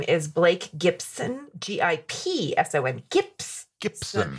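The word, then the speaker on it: Gipson: Gibson. So it's hard to say. It sounds like Gibson, no matter how you say it.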